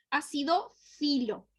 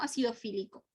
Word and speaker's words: acidófilo: Acidófilo. ¿Sí? Se escribe acidófilo. No acidofílico. Acidófilo.